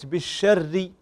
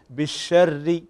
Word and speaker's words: بالشر: في قولك قطب جد، وكذلك كلمة بالشر ري، فنكسر الشفتين عند النطق بالحرف المكسور، وهنا الراء عندنا مكسورة فلا بد أن نكسر الشفتين بالشر.